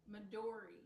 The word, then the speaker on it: Midori: that Tim's color is green, and this little dog, her name is Midori, and that means green in Japanese. Oh, that is cool. How do you say it again? Midori. Midori? Mm-hmm.